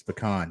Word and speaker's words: pecan: I cannot stand it when people say pecan. It's pecan, damn it. Get it right.